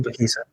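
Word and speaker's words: Makihisa: Makisa. Makisa.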